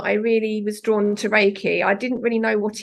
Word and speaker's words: Reiki: pronounce it wrong um I just think of um The Rake in the garden that's how you can remember how it's um pronounced um and I found